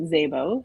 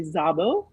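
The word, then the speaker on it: Szabo: Um Jason pronounces it and his family pronounce it Zabbo. So it is Zabbo, but that's actually not correct. Um it's Hungarian and it's actually Zabo.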